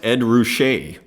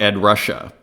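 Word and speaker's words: Ruscha: is actually super duper important here runetune it's pronounced Ed rouche not Ed Russia okay he was born in Omaha like me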